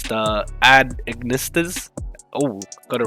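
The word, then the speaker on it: @Ignister: as the jelly baby deck i have trouble pronouncing this deck um it's became a kind of meme amongst my friends it's the ad ignistus oh got it right so yeah i'm gonna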